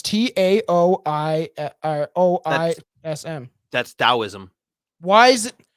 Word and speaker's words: Taoism: It should be with a D if it's going to be pronounced that way.